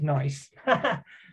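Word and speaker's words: gneiss: would say this is nice that's how you pronounce that word in the top left it's got a silent g basically that's a nice piece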